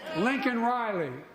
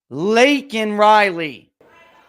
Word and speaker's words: Laken Riley: the President of the United States got her name wrong. Not really. Lincoln Riley, an innocent young woman who was killed. Laken Riley.